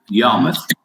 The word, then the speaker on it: Yarmouth: If I pronounce it wrong, what was it? Yarmouth.